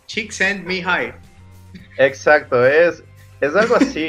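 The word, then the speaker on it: Csíkszentmihályi: Estefano me dijo que el truco para pronunciar eso, porque supuestamente es impronunciable, es pollito se va al cielo. No, pollito, envíame al cielo. Chick send me hi.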